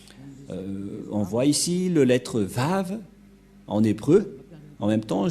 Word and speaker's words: Vav: de Yahushua, est vraie, que ça se prononce vraiment V.